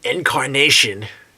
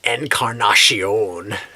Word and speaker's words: Encarnacion: do you think Edwin Incarnation is he named after a flower oh oh I'm sorry I said it wrong uh Encarnacion do you think Edwin